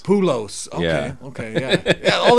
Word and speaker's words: Poolos: and then what you said poos I said poos like the baseball player but my last name is pulos pulos okay okay yeah yeah all this time I've been saying poos yeah and it's pulos Mr salivan P uh